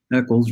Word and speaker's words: Eccles: Eccles rhymes with heckles.